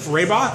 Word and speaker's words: Rehbock: We just talked with Steve Rehbock. Am I pronouncing that name right?